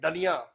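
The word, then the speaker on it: dhaniya: So we call in Hindi, we say dhania. It might be spelled with a T, but it's dhania, dhania. D-H-A-N-I-Y-A, dhania.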